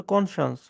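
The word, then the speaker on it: conscience: কনসায়েন্স উচ্চারণটা হচ্ছে কনসায়েন্স মানে হচ্ছে বিবেক।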